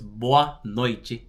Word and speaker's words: boa noite: Also, whenever you're pronouncing the T next to an E, it's usually gonna make a ch sound. So it's boa noite.